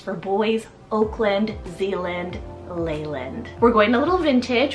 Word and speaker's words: Leyland: side is Leyland spell l-e-y-l-a-n-d Leyland this could also be pronounced I guess as Leland as well but I like Leyland I